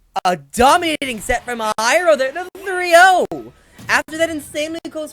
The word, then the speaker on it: Hyrule: yeah okay gyro hephro hero that's the only pronunciation yes no it's obviously hyrule hey hey twitter sarcasm yeah pyro hero pyro